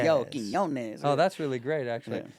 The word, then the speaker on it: Quiñones: And so now when I tell people how to say it, I'm like, just think of the yo, Quinones.